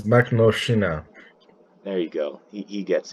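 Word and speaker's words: Makhnovshchina: I can't remember how to pronounce it, All right, but I got it. I got yeah, it. It's Makhnovschina.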